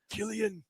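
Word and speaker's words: Cillian: you get the final shot of Silsian or Killigan. I never know how to pronounce Killian Murphy looking up and he sees that airplane Killian.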